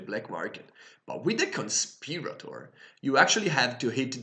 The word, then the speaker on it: Conspirator: YouTube to find out which one was the correct pronunciation for it since conspiratory made sense to me too kinda but it's conspirator so conspiratory is um she's